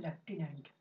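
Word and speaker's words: lieutenant: जो है ये है लेफ्टिनेंट। कितनी अजीब बात है दोस्तों, लेफ्टिनेंट में हम लोग एफ लगाते हैं बोलते समय, लेकिन स्पेलिंग में एफ कहीं नहीं होता।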